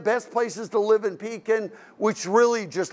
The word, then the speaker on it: Pekin: You know, if I go out, is it pronounced Pekin? It is? Okay, I want to make sure I get it right, Pekin.